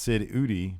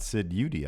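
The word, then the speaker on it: Eudy: I did learn another thing, that his shoot name is pronounced Sid Udi, not Sid Udi. I figured it'd be Udi. Yeah, I not thought so too. Udi. I thought so too. The E is silent.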